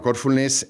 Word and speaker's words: Corfulness: Bueno, Corfulness es, como se ve por el nombre, tiene una fuerza en el en la primera sílaba, ¿no? En el core, ¿no? Corazón.